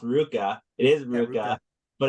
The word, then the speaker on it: RVCA: the Opposites and that but it's really Ruka so yeah it took me a while to learn about that actually I always call it RVCA and then um I for those listening they were a client of my Billabong and Ruka were a client of mine and so that's when I found out like oh it's Ruka cheese yeah you go into